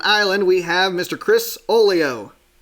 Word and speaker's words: Oglio: There's a G in Chris's last name. Is it Oglio or is the G silent? Help me out here. The G is silent, actually, Oglio. Oglio. All right, cool. Oglio, yes.